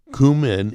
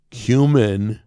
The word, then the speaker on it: cumin: Cumin is commonly pronounced in two ways. Cumin or cumin.